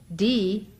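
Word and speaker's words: Dhih: D, which is spelled D-H-I-H, but is pronounced D-E-E, is the bija, or seed syllable, of Manjushri.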